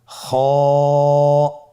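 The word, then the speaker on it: خ: খ হফটি হল মোটা হারাফ। উচ্চারণের ক্ষেত্রে মোটা হবে। ছবিতে দেখুন খ হরফটি কিভাবে উচ্চারণ করতে হবে। খ হরফটির মাখরাজ হলো কন্ঠনালীর শেষ ভাগ হতে উচ্চারণ করতে হয়।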